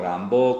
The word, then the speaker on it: Rimbaud: de la alquimia en rimbaud rambo como como se escribe rimbau arthur rimbaud el ritmo rambo la